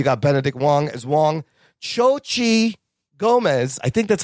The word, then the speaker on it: Xochitl Gomez: Xochitl Gomez, I think that's how you say her name. There's a TL at the end, but I think it's silent. I think it's Xochitl Gomez, America Chavez, Rachel McAdams